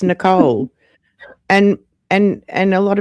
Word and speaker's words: Nicole: Well, my name is not Nicola. It's Nicole.